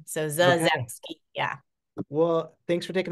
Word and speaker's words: Zasowski: S, it's pretty phonetic, but the S is pronounced like a Z. So Okay. Zazowski.